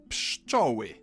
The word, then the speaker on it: pszczoły: P, sz, č, o, ły, I. Pszczoły.